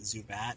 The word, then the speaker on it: Zubat: It is pronounced Zubat.